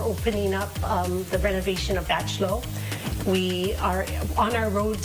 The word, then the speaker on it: Bachelot: I've been calling it the wrong hall all this time, but thanks to these two here, they told me the right pronunciation, Bachelot Hall.